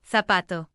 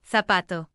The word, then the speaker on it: zapato: are pronounced as C, which is the same sound as the English th in think. So is pronounced cielo and zapato, zapato.